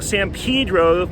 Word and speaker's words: San Pedro: you might be thinking why is he calling it Pedro why not Pedro mr. kurtz oh no you now to pronounce Spanish words well no I do messed them up a lot but actually this one I'm saying it the way the locals do even if you're used